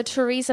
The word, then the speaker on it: Theresa: So Theresa May. Theresa? I think it's Theresa, yeah. It's Theresa. It's very... I hate people have names that can be pronounced different ways.